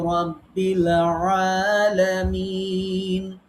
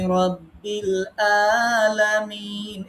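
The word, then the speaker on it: رب العالمين: আইন এবং হামজা এর পার্থক্য সবসময় খেয়াল রাখতে হবে। হামজা হলকের শুরু থেকে, আইন হলকের মধ্যখান থেকে উচ্চারণ করতে হয় চেপে ধরে।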